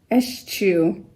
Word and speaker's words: eschew: Eschew. I pronounce that C-H. Eschew.